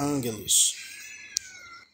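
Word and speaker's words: ἄγγελος: Vai ficar angelos.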